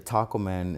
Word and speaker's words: TacoMa: So actually the Taco Man is spelled like Tacoma. So the Tacoma but we capitalize the T and the M so it's pronounced the Taco Man.